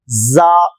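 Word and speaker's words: زاي: ஜா ராக்கு அடுத்து ஜா மேல் பற்கள் கீழ் பற்கள் கடித்து ஜா ஜா ஆங்கிலத்தில் ஜெட் என்கிற எழுத்து இருக்கிறது அதுபோன்ற உச்சரிப்பு தான் ஜா ஆரம்பத்தில் வந்தால் இப்படி எழுதப்படும்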